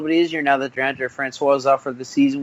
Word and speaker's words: Francois: DeAndre Francois. I mispronounced the last name for the Florida State